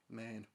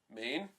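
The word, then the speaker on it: Maine: cool badass travel video main mean no because it rhymes with lane no penis [ __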